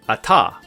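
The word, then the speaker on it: אַתָּה: But if you ever see hey at the end of the word, it's silent, like the word ata, which means you.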